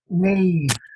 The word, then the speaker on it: Neve: Just Neve, N-E-E-V, without the E on the end.